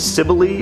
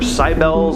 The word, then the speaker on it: Cybele: Next on the list is the cult of Cybele or Cybele. It's different pronunciations, but the cult of